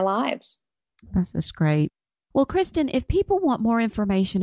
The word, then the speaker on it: Christin: Christen dcom and my parents spelled my name funny um when I was a little girl they wanted to make sure it had Christ in it so that's how my name is spelled Christ in c h r i s t i n Christen just like